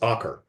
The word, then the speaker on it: Acre: the city here that if you look at the word, you would see the word acre. I mean, it's spelled exactly the same, but it was pronounced Akar.